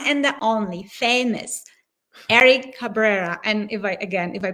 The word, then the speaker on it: Cabrera: We have the one and the only famous Eric Cabrera. And if I pronounce it not right. No, you're saying it right. Yeah. Yep. Say it. Cabrera.